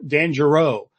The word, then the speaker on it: Giroux: What if, and thank you for Jane Daly for correcting me how to say his name. I've been talking about this guy for a while now, and I didn't know how to say his name. So Dan Giroux, I guess is how we're supposed to be saying it.